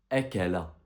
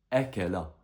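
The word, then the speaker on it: أكل: À ton avis, cette lettre avec trois fathat, ça va donner quoi en prononciation? Bien, ça va donner akala. Répète après moi. Akala.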